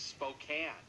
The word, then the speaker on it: Spokane: It is Spokane. Well, they should get rid of that E. The E is silent, though.